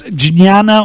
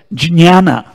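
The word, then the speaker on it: jñāna: Gianna in some scriptum in Hindi we say Gianna Hindi Bengali they say Jana in Marathi disease Gianna but in some scripta if you go in the pronunciation guide here in the back of the book if you actually read it J and Nia come together jinn Jana so at Matata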